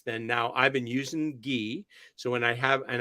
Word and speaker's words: ghee: a little bit of ghee with it or key she pronounced as a key actually key and cardamom with it